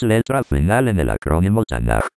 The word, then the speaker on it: Tanaj: Es letra final en el acrónimo Tan. Y por ser última letra toma la forma de K final y se pronuncia suave como J, no como K. Por eso es tan y no tanc.